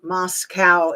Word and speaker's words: Moscow: but I'm pretty sure that the mosow is Idaho and Moscow is how you say the um Russia Kaye had her and